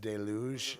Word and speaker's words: deluge: It's actually pronounced deluge. and that would be Okay. French.